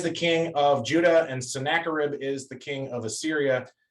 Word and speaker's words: Sennacherib: Charlotte, can I have you to read this part where, and I'll give you the pronunciation thing that I gave everybody else. It's Hezekiah. Yes. Sennacherib.